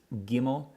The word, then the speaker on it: Gimel: So Gimel, always pronounced as a G. So we have Aleph, Bet, Gimel.